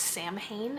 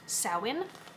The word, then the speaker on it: Samhain: This is the colorway Samhain, which you may think is pronounced Samhain, and it's not. Samhain, from their Halloween collection.